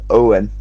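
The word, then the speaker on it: Eoghan: Yeah, and Eogan's name is pronounced Owen, but it's Irish, so yeah.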